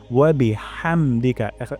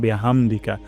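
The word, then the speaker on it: حَمْدِكَ: হচ্ছে কিনা আমরা দেখব হা গলার মাঝখান থেকে উচ্চারণ করব হামদিকা এখানে উচ্চারণ করবো না হামদিকা হামদিকা উচ্চারণ করবো না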